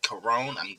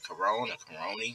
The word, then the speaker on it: Korone: game called evil god coron i think i'm pronouncing the ray corona but i think it's coron and i was like